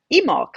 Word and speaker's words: Imbolc: And then if you go around to today, you get Emolc, which is spelled Imbolc.